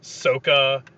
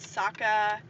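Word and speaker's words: Sokka: things like number one they switched the pronunciation to gain some kind of like faux accuracy which was terrible it was like soca and aung yeah instead of instead of ang and saka and iro i was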